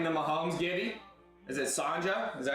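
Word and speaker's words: Csonka: Is it Sanja? Is that how you say it? Larry Sanja? It's spelled C-S-O-N-K-A is how they spelled it. Zonka?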